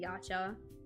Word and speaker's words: YCH: the early DeviantArt days, I heard a lot of people pronounce it yacha.